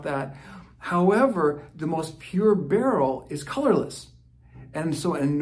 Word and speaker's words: beryl: earrings Rings now aquamarine is part of the barrel family that's spelled b-e-r-y-l and it comes from the mineral